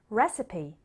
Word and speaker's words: recipe: Many of these words came into English from other languages, and so they don't follow the typical trend of a silent E at the end.